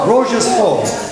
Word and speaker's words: Рождество: Рождество.